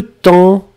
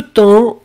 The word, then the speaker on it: temps: Ashley, faites attention, il y a un S à la fin de temps, hein, on ne le prononce pas, mais on ne prononce pas le P non plus, donc ça doit être là.